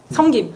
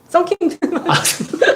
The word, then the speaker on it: 성김: 성김. 성김. 썬킴. 썬킴이라 그래가지고. 경상도라서 발음.